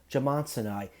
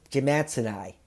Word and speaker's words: jimmadseni: of big al and thank you spinal dude for showing me how to pronounce this more elegantly if i did it in my very brutal new england accent that i try to fight off when i'm trying to do these review i'd be pronouncing it allosaurus jim mats and i and speaking of allosaurus